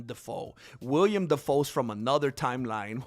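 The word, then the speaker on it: Dafoe: It's not William Defo, GM. It's William Defoe.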